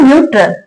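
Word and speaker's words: neutral: Spelling कहां कहां कैसे लिखी है, क्या रूल था, ई यू आएगा तो उच्चारण क्या होगा, यू, ई यू। ये देखो यहां रूल कंप्लीट हो रहा है, साउंड किसका देगा, यू का।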